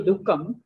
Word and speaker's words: दुःखम्: When we observe pronunciation, so sukham there is no problem, but it when comes to comes to dukham, so we need to pronounce half visarga, ardha visarga.